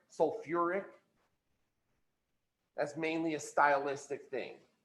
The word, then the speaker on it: sulfuric: Instead of sulfic acid or phosphic acid, we added that UR, that OR in there. Phosphoric, sulfuric.